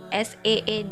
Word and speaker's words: seed: Pengucapannya juga harus beda. Sit, jangan sit. Kalau sit duduk nanti. Sit gitu. SEED dibacanya seed.